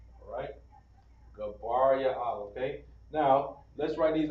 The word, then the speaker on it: Gabriel: And Gabriel is pronounced Gabar Ya'ala. Alright? Gabar Ya'ala.